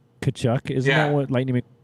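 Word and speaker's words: Tkachuk: Kachchuck. The T is silent. Kachchuck.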